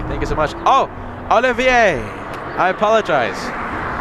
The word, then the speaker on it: Olivier: I'm an American, and I looked at that and I said, oh, Oliver. Olivier, please tell me I'm pronouncing that name correctly, or at least close to how it's supposed to be pronounced.